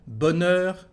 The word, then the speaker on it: bonheur: Bonheur, the letter H is inside the word.